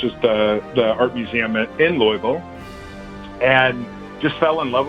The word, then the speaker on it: Louisville: So I'm originally from Louisville, Kentucky, or if I were to pronounce it correctly, it would be Louisville, Kentucky.